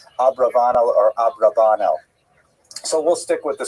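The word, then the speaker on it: Abravanel: Oh, I should mention, by the way, many people pronounce this name uh Abarbanel.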